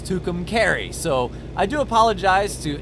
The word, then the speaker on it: Tucumcari: time I recorded and I mispronounced Tucumcari apparently it's Tucumcari so I do apologize